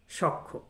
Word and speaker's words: সখ্য: যেমন একটা শব্দ সখ্য, এখানে জ ফলার কারণে খটা দুবার উচ্চারণ করতে হবে আপনাকে। তাহলে আপনি যদি সখ্য উচ্চারণ করেন তাহলে এটি হচ্ছে ভুল উচ্চারণ হবে।